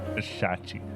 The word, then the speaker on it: Shachi: her following is Shi shachi it's weird to pronounce it I'm used to Sachi and like there's an H now a shachi mommy isn't